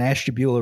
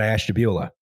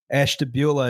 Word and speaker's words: Ashtabula: the cleveland paynesville and ashtabula railroads bridge yeah talk about bonesville baby ashtabula river no we're talking about ashtabula which i which i again in my mispronunciation thing thought was ash tabula no listen i'm just